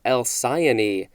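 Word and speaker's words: Alcyone: resemblance to a kingfisher's nest next we have el sayoni capital a-l-c-y-o-n-e this is a noun from the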